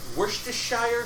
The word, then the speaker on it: Worcestershire: Shoot, I can never pronounce this word. Worcestershire sauce.